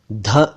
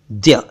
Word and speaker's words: द्य: कह रहे हैं दोस्तों यह अक्षर ना ध है और ना ध्या और ना ही कुछ और यह तो द्य है द्य जी हां द्य इस अक्षर का सही